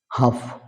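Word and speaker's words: half: L will be silent হাফ এখানেও এল will be silent মানে অর্ধেক কাফ মানে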